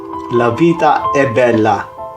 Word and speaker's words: La Vita è Bella: So, tamang pagbigkas po, La Vita è Bella. Vita.